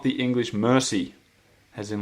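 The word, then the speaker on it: merci: and pronounce them so to say thank you you say mercy and uh Kam has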